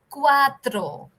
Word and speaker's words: cuatro: circle quarter right so it is cuatro cuatro okay uh cuatro uh like I said the r is a Time rolling pronunciation say cuatro next one it's